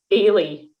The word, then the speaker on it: Eilidh: Ailey, how do you spell that? Ailey's lovely. EILIDH. What? You guys are always sneaking in these weird silent I D's.